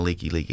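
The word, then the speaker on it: Likelike: And then we're going down the Leaky Highway, and the guy driving, that's the like highway for those that haven't been in Hawaii. It's literally spelled Like, but it's leaky.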